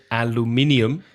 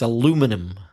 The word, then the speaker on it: aluminium: In the States, aluminum. Aluminum. The stress changes to the second syllable and the pronunciation. Aluminum. So there are 5 syllables in the British pronunciation of aluminium.